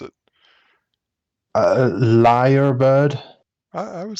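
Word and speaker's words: lyrebird: i mean I've already I'm seeing how you pronounce it uh liar bird I I would say that's right a liar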